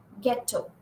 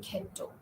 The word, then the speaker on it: ghetto: Then you say aghast or ghetto. You don't say ghetto. Okay, ghetto.